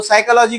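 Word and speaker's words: psychology: जैसा जो अब कोई बच्चा अपना इंग्लिश सीख रहा है तो साइकोलॉजी को पढ़ता साइकोलॉजी तो फिर टीचर बोलता है अरे नहीं पीस साइलेंट रहता है यहां पर बराबर है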